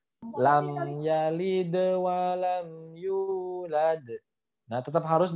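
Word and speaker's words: لم يلد: Ya, mim sukun tidak boleh dipantulkan. Jadi jangan teman bacanya lam yalid. Nah, seperti itu lam, tapi lam yalid harus terhenti. Lam yalid. Nah, seperti itu ya.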